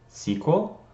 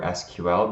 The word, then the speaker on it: SQL: might say it's pronounced sequel I personally prefer SQL because it is an acronym SQL stands for standard